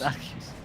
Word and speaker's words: Arceus: No, now you made me say it wrong. What? It's Arceus. Just Arceus. Arceus.